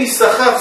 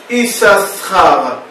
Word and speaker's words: Issachar: Bene Issachar, ça s'écrit Yud, Shin, Shin, Chaf, Resh. Mais ça ne se lit pas Shin, Shin, Issachar. Ça se lit Issachar. On prononce un seul Shin.